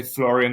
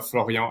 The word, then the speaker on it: Florian: a French perfect yeah you can you can say Florian or floron as you want perfect so floron quick